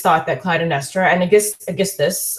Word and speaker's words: Aeschylus: And generally it's thought that Clytemnestra and Aeschylus, or you can also pronounce his name, Aeschylus, are to some extent certainly have tyrannical qualities and can be considered tyrants.